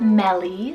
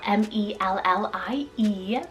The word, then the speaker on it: Mellie: We also have Mellie, spelled M-E-L-L-I-E, Mellie.